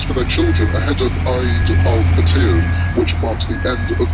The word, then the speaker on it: Eid al-Fitr: buying new clothes for their children ahead of Eid al-Fitr, which marks the end of the Islamic fasting month of Ramadan next month. So far, no group has admitted carrying out the attack. Ben, it's pronounced Eid al-Fitr.